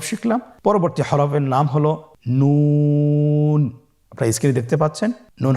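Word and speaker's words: نون: আপনারা জিহ্বার আগাটা তার বরাবর উপরে তালুর সঙ্গে লাগিয়ে উচ্চারণ করুন এবং আমার সাথে বলুন নুন। আবার বলুন নুন।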